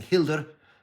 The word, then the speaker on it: Hildr: Not this way, I'm pronouncing Hilder really right there. I'm sure and some of the Germans out there will pat me on the back for pronouncing Hilder the right way.